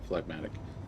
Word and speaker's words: phlegmatic: Phlegmatic. I think that's how you say it, right? Yeah, phlegmatic.